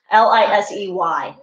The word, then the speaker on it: Lisey: Why don't you talk about Lacey's story? Lacey's story was Lacey's story. I believe it's Lacey's story. It's spelled Lyces, I swear. Lisey. Yeah, but yeah. but they say it Lacey's.